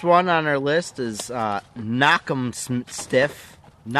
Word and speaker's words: Knock 'em Stiff: First one on our list is Knock 'em Stiff. Pronounced just as it's spelled, Knock 'em Stiff.